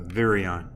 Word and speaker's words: virion: that for a reason it's really like uh virion right but it's spelled like virus but ion so it's a single